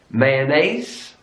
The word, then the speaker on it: mayonnaise: In British English, garage. Garage. Stress on the first syllable.